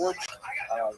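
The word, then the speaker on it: Łódź: This was the case in Wood which is pronounced wood but it's got an L again people in America say lodge and that was a ghetto where it was all about the work.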